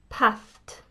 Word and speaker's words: passed: She wants to say passed with a t, but she uses a d sound.